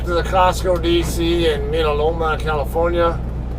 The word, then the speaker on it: Mira Loma: dc in midaloma california or is americans call it mira loma it's loma ours are usually pronounced like a d in spanish and that's a spanish word so it's how i pronounce it yeah it's the